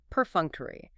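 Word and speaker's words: perfunctory: Our next academic professional adjective is perunctery. P E R F U N C T O R Y. Per F2. Four syllables. Stress on the second.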